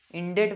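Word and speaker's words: indebt: इंडेट बोलते हैं, इंडेट, बी इस पे साइलेंट रहता है।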